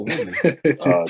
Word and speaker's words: Woodley: And hold on, did I pronounce the homie name right? Mm-hmm. Woody? Is it Woody? Oh, Woodley. Tyrone Woodley. Yeah, Woodley.